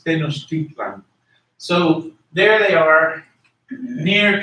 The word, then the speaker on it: Tenochtitlan: Tenochtitlan in Spanish is pronounced Tenochtitlan. Tenochtitlan, but in Nahuatl it's Tenochtitlan.